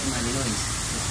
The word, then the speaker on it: malinois: en conocer un poco se escribe malinois se dice malinois es un perro Pues